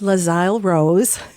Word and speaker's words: Les Isle Rose: Lazal Rose, difficult to pronounce. Many people say it wrong, but it is Lazy Rose. Kind of has to roll off your tongue.